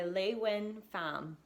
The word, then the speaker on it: LeUyen Pham: A Piece of Cake by LeUyen Pham.